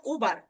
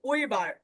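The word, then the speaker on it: über: Same ভাবে এখানে যদি উমলাউট না থাকতো আমরা উচ্চারণ করতাম উবার। আর উমলাউট থাকার জন্য আমরা উচ্চারণ করব উইবার। ঠিক আছে, উইবার, উইবার।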